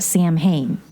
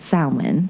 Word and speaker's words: Samhain: I've heard you both bring it up in the past, and it's actually spelled like, if I want to pronounce it how I'm reading it, Samhain. Yeah. But it's really called Samhain.